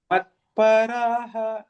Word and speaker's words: मत्पराः: Matparaha in the second line and mam dhayanta mam, like this akar, right? Mam dhayanta upasate. But yeah.